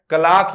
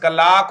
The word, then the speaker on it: clerk: हम क्लर्क क्लर्क बोलते हैं, इसका प्रोनाउंसिएशन कलाक होता है।